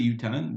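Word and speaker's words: יותן: Because it says v'chi yutan ma'im al zerak, but it says ktiv yitain. It's written yutan. We pronounce it yutan. That's our tradition, but it's written in yutaf nun yitain.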